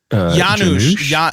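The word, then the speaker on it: Janosz: Yanusha.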